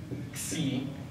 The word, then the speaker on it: xi: Here is your xi, xi, like a KS.